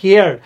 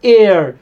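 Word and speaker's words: heir: ঠিক একইভাবে আমরা এই উদাহরণটা দিব, এটা প্রায় পরীক্ষায় আসছে, অ্যান এয়ার নট হিয়ার, অ্যান এয়ার অর্থাৎ উত্তরাধিকারীর ক্ষেত্রে আমরা মূলত অ্যান ব্যবহার করব, কারণ এর উচ্চারণটা কিন্তু হেয়ার না, এটা হচ্ছে এয়ার।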